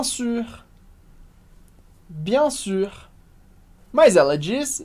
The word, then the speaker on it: sûr: E importante, aqui a gente tem a pronúncia da letra U em francês, que é a letra do biquinho, o famoso som do biquinho. U, que facilita muito se você pronunciar a letra I, e arredondar os lábios, fazendo I, U. Então vai lá na palavra sur, esse U está seguido de um R, portanto, tenta repetir comigo, bien sûr, bien sûr.